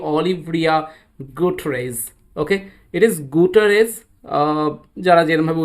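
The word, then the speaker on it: Guterres: Okay, it ইজ গুটারেজ, যারা যেরকমভাবে উচ্চারণ করো ডাজন্ট ম্যাটার।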